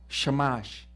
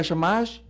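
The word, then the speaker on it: שַׁמָּשׁ: porque tiene anotaciones vocales Pero si ustedes le quitan las las vocales sabes cómo se dice shamash Qué significa shamash siervo las anotaciones fueron añadidas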